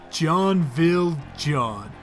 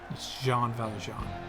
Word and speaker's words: Jean Valjean: He's also currently on the lookout for a man named John Valjean. It's Jean Valjean. Whatever, close enough.